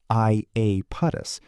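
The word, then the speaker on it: Iapetus: Aapotus, pronounced I apus, is a moon about the size of Argentina.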